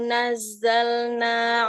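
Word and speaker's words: نزلنا: Tapi bacanya gini. Nazzalna, nyambung. Nazzalna. Ya. Walau nazzalna 'alaika kitaban fi qirtas. Tanya kurang ini. Lagi nazzalna, nazzalna. Nazzalna. Ya, jangan ada huruf S-nya, nggak boleh.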